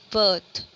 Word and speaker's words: birth: Next को अगर हम लोग करते हैं स्पेल BIRTH, बर्थ, ठीक है। दोनों का ही जो प्रोनाउंसिएशन है वो क्या आ रहा है? बर्थ, ठीक है।